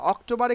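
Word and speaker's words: October: will be silent hair অক্টোবারে কিন্তু আর উচ্চারণ হবে না তাইলে অক্টোবা অক্টোবা অক্টোবা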